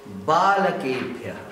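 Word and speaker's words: बालकेभ्यः: Now you pronounce correctly. Balakebhya. Balakebhya. Wherever the A is there, you have to give stress.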